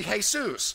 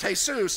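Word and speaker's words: Jesús: Actually, if he's of Spanish descent, he could be Jesus, but it's pronounced Jesus instead of Jesus.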